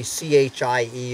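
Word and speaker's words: Chie: I'm going to say c-h-i-e is pronounced chi chi Kelly who took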